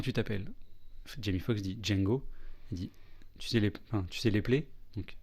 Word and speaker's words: Django: t'appelles Jamie Fox dit Django tu sais les plaies donc Jimmy Fox EPEL Django donc Djang j'ai mis Fox précise le D est silencieux on prononce pas les et la franconero